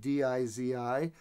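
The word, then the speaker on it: 笛子: It's usually spelled D-I-Z-I, but my friends from Shanghai say Dizi.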